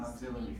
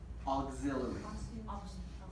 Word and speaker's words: auxiliary: It's an auxiliary verb. Auxiliary. Yeah. Pronunciation. Auxiliary. Auxiliary. Aug. Right? Auxiliary. Auxiliary. Auxiliary. Auxiliary. Can you spell? Auxiliary? Yeah. Okay. And different accents, different dialects of English will say this differently, right?